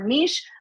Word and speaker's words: niche: elephant in the room I don't know if it's niche or Niche but Niche rhymes with reach so we're going to